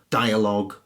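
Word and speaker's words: dialogue: I did there mmm-hmm words the end gue or L o gue in those cases the U is silent and it hardens the G so colleague lead tongue catalogue dialog analog and indeed epilogue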